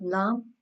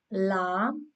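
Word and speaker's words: لام: But lam, like up to here, six teeth, like lam, but then noon, a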